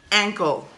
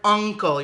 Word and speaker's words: ankle: right here this one this one is your ankle okay with an a ankle it's not your uncle your uncle is your mother or your father's